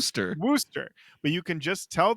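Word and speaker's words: Worcester: Massachusetts people are going to come at you for pronouncing Wararchchester like it's spelled instead of how it's pronounced. Worooster.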